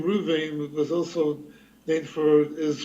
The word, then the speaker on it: Reuven: it makes sense because he was actually pronouncing your name the way it would actually have been pronounced, Reuven.